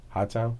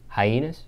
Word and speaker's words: Hyannis: give me a tour of how do you pronounce it high toown high toown no that's not the real name what's the real name hus hyenas hyenas hyenes yeah all right give me a